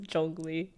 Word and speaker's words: Zhongli: I love the way he says Zhongli, because I believe that is very close to how you say it in Mandarin.